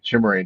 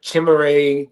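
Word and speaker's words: Chimere: the way it's it's spelled the first name is spelled, but I know his last name is DK, right? Chimé. Chimray DK. Chimray DK from Florida.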